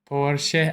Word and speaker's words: Porsche: Porsche. I already forgot how she pronounced it, but anyways, those 3 are definitely considered luxury.